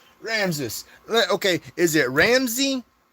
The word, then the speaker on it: Ramses: All right, Ramsis. Let Okay. Is it Ramsy? Put one for Ramsay, two for Ramsis. I want to pronounce your name correctly. Ram sis.